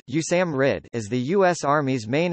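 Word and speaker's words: USAMRIID: Institute of infectious diseases USA MRI I D pronounced you Sam R it is the US Army's main institution and facility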